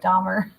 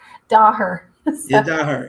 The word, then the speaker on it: Daher: London so I'm I pronounce his name wrong because it always sounds like Dahmer it's a daher yeah yeah not her yeah and he's right